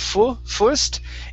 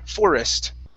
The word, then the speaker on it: forest: Give me a little bit more O sound here. Instead of forest, it's forest. Forest.